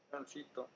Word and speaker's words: transito: Transito. Transito. Efectivamente es transito. Pensaba o quería que alguien se equivocara, pero no. Dijiste y tienes toda la razón. Aquí dice transito. Transito. No dice ni transitó ni tránsito.